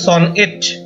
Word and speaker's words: sonnet: সনেট, যেটা আসল উচ্চারণ সনএট, আসলে একটি 14 লাইনের কবিতা, যাতে একটা নির্দিষ্ট রাইম স্কিম অর্থাৎ নির্দিষ্ট একটা ছন্দ প্রকরণ রয়েছে।